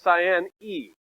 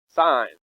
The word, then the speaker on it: sine: a fraction that's s s-i-n-e by the way how do you say this sign okay when we abbreviate it like this you don't need to say sin it really means sign now how do you